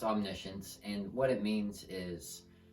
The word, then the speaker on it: omniscience: I spell it on the science but it's pronounced omniscience and what it means is that God knows